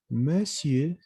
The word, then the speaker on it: monsieur: Esto es como se vuelve una E. Monsieur, monsieur, nada más, ¿no? La R no se pronuncia. Monsieur.